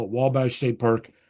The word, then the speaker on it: Wabash: It's actually the French spelling of the Wabash River. So if you call it Wabash State Park, that's fine with me. But most people would pronounce it Obachi State Park.